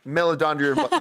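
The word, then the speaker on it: Meledandri: So, first of all, uh I never pronounced his name right. Chris Melia Romani. Melodandre. Melodandri. Yes. Mel.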